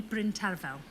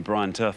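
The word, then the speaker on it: Bryn Terfel: going to pick B Bryn tarafel oh nice pronunciation I've been calling him Brian Turf for all these years okay now then Jane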